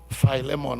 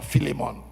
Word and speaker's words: Philemon: He wrote this letter to a big man, a man of substance, a man of wealth called Philemon or Filimon, however you want to pronounce that, pronounce that name.